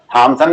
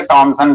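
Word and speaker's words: Thomson: ठीक है, जे थॉमसन या जे टॉमसन, क्योंकि अंग्रेजी में थॉमसन ही लिखा जाता है लेकिन उसका उच्चारण टॉमसन किया जाता है, एच साइलेंट रहता है उसमें।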